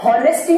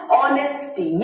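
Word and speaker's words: honesty: यहां पर यदि मैं बात करूं ऑनेस्टी, तो हॉनेस्टी नहीं, यदि ये हॉनेस्टी होता तो ये क्या हो जाता, ये कॉन्सोनेंट साउंड हो जाता। लेकिन मैं क्या बोल रही हूँ, इसका प्रोनाउंसिएशन क्या, ऑनेस्टी।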